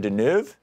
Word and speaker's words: Deneuve: you Louise correct this tells me I'm mispronouncing Catherine's name its Catherine Deneuve I was saying Deneb ooh I don't know